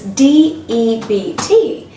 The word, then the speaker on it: debt: to focus on this de BT which we may tend to pronounce as depth whereas the word is depth so it's really important to understand that the B in this alphabet here is silent so we pronounce is